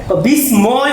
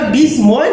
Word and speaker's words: বিস্ময়: বিষ, অনেকে পরে এটার সাউন্ড করে বিস্ময় বলে, এটা বিস্ময় না, এটা হলো বিস্ময়, কারণ ময়ের উচ্চারণ দ্বিত্ব হয়ে যায়।